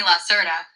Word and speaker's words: Lacerta: Please call me Lasserta. This is the name I usually use when I am humans and speak with them. In French, the name Lasserta means lizard.